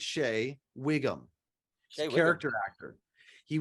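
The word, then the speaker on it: Shea Whigham: Shay, I think you pronounce it Shay or Shaya. I think it's Shay Wiggum.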